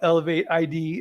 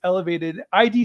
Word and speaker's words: ElevateID: org I know you call it elevate ID it's it's spelled sorry about that sorry no it's okay no uh it's it's spelled that way but it's elevated ID stands for the invisible